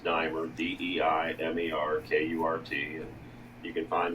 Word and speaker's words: Diemer: It's pronounced Diemer, DEIMERKURT.